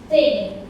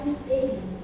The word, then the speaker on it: think: So, like here, in phonology, you can see when you pronounce the word like the th sound, like think. I think it's supposed to be I think, but some people mispronounce it like I sing.